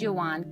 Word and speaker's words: Joanne: Her name, Joanne, pronounced as Johann, came by her father from German composer and musician of the Baroque period, Johann Sebastian Bach, while Morissette was taken